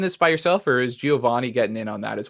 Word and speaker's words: Giovanni: what your name is john ovani that is a common pronunciation of the name in the commoner's english giovanni is my true name sorry sorry i